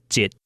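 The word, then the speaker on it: 一: The number 1 is pronounced jit in a colloquial setting.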